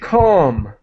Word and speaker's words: calm: The word calm. Calm. Oh, yes. And just to let you know, the L is silent. We do not pronounce the L.